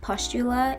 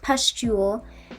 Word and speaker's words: pustule: know how that happened literally no one ever said pustula in any of the videos and any of the articles articles no one ever said pushula and anything i've read so i apologize it's pronounced pustule um therefore a pustule